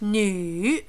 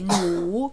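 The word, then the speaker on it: 女: female anything okay and we read it new not notice this down and up new I know it has a V here but because it would to you it will be mu which is wrong sergeant we put a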